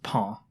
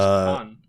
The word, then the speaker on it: pain: Okay, so like, because like I think if I'm not mistaken, the way bread, which is spelled PAIN, is pronounced as paw. I thought it was just pawn.